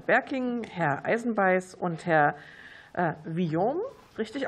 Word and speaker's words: Vuillaume: Berking, Herr Eisenbeiß und Herr Villon. Richtig ausgesprochen?